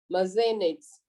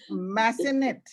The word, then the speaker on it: Massenet: A first night means a first performance of an opera of Mazzenettes. Am I correct in the pronunciation? Mazzenettes, huh? No Yeah. idea. It's Massenet.